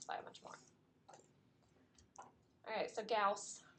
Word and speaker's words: Gauss: much more alright so Gauss rhymes with mouse remember I so Carl